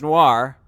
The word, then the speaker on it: Noir: Niar, like N-I-O-R is a word. Noir, it's pronounced noir.